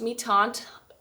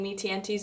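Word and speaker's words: Mi-Teintes: It looks like mi tiantes but it's uh pronounced me tant. Ask me how I know that because I was saying mienties in a workshop and then someone came around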